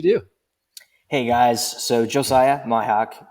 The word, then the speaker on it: Mihok: Yep, Mihok.